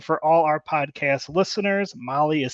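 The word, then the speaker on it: Mahle: jump in here um I think we got molly Motorsports section next yep all right attention high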